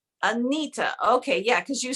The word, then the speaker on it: Anitha: Now do me a favor, because I feel like I am totally pronouncing your name wrong again. Say your name to me. Anitha. Anita.